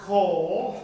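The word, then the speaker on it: כֹּל: The Hebrew word kol, that's how you would pronounce this word here. This is like a C and this is like an L.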